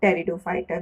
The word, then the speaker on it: pteridophyta: Vascular plant in pteridophyta, where the P is silent.